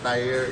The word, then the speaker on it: Tahir: It's actually pronounced Tahir. It's Arabic.